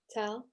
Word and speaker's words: Tal: Tal, am I pronouncing your name correctly? Yeah, you're pronouncing correctly.